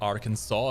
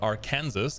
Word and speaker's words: Arkansas: you are asking me why it's pronounced Arkansas and not Aransas given that there's also a US state called Kansas I don't know either um America explain please hello everyone I hope